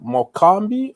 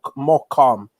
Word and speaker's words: Morecambe: a few days ago i was like more kambi or something but somebody told me it's like more more calm more calm that is the way to pronounce i'm like what if